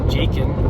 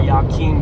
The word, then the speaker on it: Jachin: the positive charge, that's Jachin or Yakin, depending on how you pronounce it.